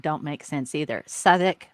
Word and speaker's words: Southwark: don't make sense either southik are you kidding me it's spelled like southwark come on you're gonna